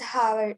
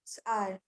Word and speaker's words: hour: So the spelling is Hour. So here R, H is silent word. So Yes. it doesn't say it as Howard, it's R.